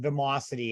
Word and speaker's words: Vimocity: want to last a little bit more about vamosity and i believe i'm saying it correctly am